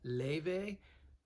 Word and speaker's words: Laufey: Now, her name is spelled Laufey, but it's Icelandic. It's pronounced Laufey.